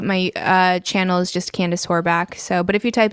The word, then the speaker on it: Horbacz: It's actually supposed to be pronounced Horbacz, but no one in his family pronounces it right.